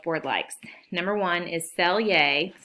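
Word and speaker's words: Selye: that the College Board likes number one is sell yay that's how you pronounce that sell yes general adaptation syndrome otherwise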